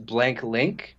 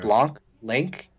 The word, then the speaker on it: Blanc Link: company name yeah was blank link blank link like Blanc like the French word for white okay Blanc link and then the application